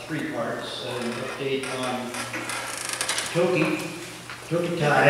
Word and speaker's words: Tokitae: parts an update on toki took a tie as i've learned to pronounce it i think we can